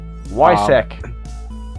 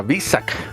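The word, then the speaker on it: Weissach: bit about showdown leagues why sec why i was told it's v sick uh v sec package okay because it pronounces like a v even though it's w-e-i it's like a v someone on my channel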